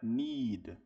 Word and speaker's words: need: A gente fala com ni no quê? No alfabeto em inglês, caso o e ele tem som de i. Então aqui você vai esticar esse i.